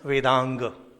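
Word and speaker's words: Vedanga: which are known as vanga is are known as V the a in the end does not signify pronouncing as ah vanga no no no it is Vang it shows full pronunciation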